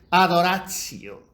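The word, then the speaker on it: adoratio: Bueno pues el latín la palabra es adoracio pronunciación de latín italiano Si queremos profundización de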